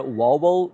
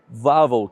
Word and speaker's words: Wawel: Yes, I was pronouncing it Wawel the whole time, but I forgot that in Polish the W sounds like a V, so it's actually Wawel Castle.